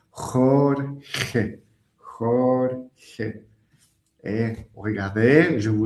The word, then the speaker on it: Jorge: Ici, j'ai mis l'écrivain Jorge Luis Borges, qui n'est pas facile à prononcer. Jorge.